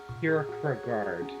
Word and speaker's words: Kierkegaard: guy the existentialist yeah isn't that how you say it kierkegaard i i cannot do the accent uh your guard is how you pronounce it say what we're